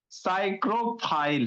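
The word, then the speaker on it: psychrophile: साइक्रोफाइल है, कैसे पढ़ेंगे, पी साइलेंट होता है।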